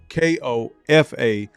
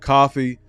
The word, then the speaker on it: Kofa: Kofa, not coffee, not, not Kofi, or any variation thereof. Kofa rhymes with sofa.